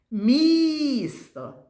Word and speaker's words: місто: Дітки, а давайте погукаємо це слово місто. Місто. Скажіть мені, будь ласка, який звук ми в цьому слові промовляємо найголосніше місто. Звук і, дітки.